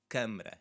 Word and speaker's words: câmara: The first word is câmara, câmara, and it's with the stressed syllable there as well. Câmara. So it's the first syllable.